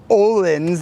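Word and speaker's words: Öhlins: i was on about with these dampers they're olens that's how you pronounce that and it says pole star engineered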